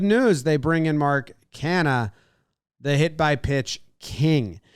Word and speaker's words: Canha: jeff mcneal mark connor canna kana every time i say his name i asked that question canna i say canna can he con canha james mccann canna mccann canna on baseball reference got it that's the